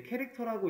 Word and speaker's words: char: 얘는 이제 캐릭터라고 읽습니다.